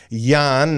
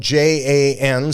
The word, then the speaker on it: Jan: but I'm going to say Yan now it's spelled j an some people might say Jan but I think in Dutch it's Jan Vander Hayden uh look